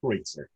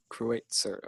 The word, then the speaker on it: Kreutzer: Am I pronouncing that right? Kreutzer. Kreutzer.